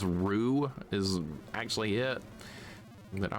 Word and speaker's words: Ryu: The people who pronounce Street Fighter names with a Japanese accent in English is Ru, not not Rayu.